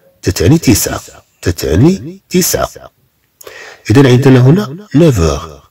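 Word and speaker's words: neuf heures: إذن عندنا هنا 9h. طبعا هاد F تنطق كأنها في مع أغ تنطق كأنها في.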